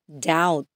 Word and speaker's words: doubt: let's move on to words with silent B comb crom doubt Dom Lim okay let's read it